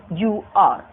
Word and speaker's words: honor: Next word, honor, honor, honor, H is silent.